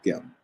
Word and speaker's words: gm: So we pronounce this like gem.